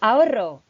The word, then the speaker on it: ahorro: So ahorro. Say, repeat after me. Ahorro. I want to hear that rolling R.